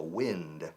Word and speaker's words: wind: Se escribe igual que viento, wind, pero se pronuncia wind.